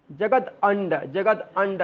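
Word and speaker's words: जगदण्ड: जैसे कि जगदंड, देखिए ये अड़ा जैसा रहता है, तो मैं बोलता भी हमेशा कि उसको आधा अंग्रेजी का न मानिए। जगद अंड ऐसे बोल सकते, जगदंड ऐसे बोल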